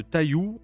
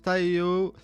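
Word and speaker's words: 太陽: Alors tout le monde le prononce comme ça en France en massacrant le japonais. Vraiment, Taillou, ça sonne franchement très très mal, je trouve. Mais ça se prononce Taiyo et ça veut dire le soleil en japonais.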